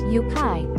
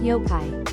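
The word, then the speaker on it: yokai: with the U because TTS mispronounces it like listen yukai versus yo-kai you are not Kai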